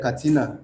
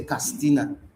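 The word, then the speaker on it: Katsina: If they want to pronounce a name like Katina, they'll say Castina.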